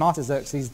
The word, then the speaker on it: Artaxerxes: the third one was given by a man called artaxerxes longimanus i better spell that i think a r t a x e r x e s artaxerxes longimanus l o n g m longimanus